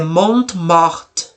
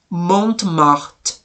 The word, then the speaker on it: Montmartre: É Montmartre. Montmartre. Então o nome do lugar ali se chama Montmartre.